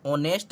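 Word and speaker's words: honest: ऑनेस्ट, अब यहाँ पर ये एच जो है ये एच अंग्रेजी का व्यंजन है, लेकिन जो उच्चारण है इसमें एच साइलेंट है, ऑनेस्ट है, इसलिए यहाँ पर प्रयोग होगा ए एन का।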